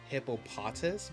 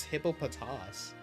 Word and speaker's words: Hippopotas: I know some people say hippop hippo hippopotus but it's hippopotas. They said it that's how they pronounce it in the anime at least.